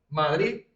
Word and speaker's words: Madrid: Però per nosaltres, Madrid es pronuncia exactament igual així. Vale?